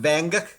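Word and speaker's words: Van Gogh: It's actually pronounced Vanguk. Vangog.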